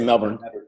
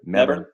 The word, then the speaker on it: Melbourne: Just make sure he doesn't hear you pronounce the L in that word. There's no L when they say it.